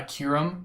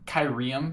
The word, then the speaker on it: Kyurem: back to I also I also pronounce uh Kyurem kyrium for the longest time as a kid so that was also